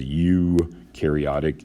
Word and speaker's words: eukaryotic: you pronounce this as you karyotic e u is you like y-o-u you pronounce it like that eukaryotic cells um and they